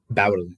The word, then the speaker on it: Bowen: Bowen.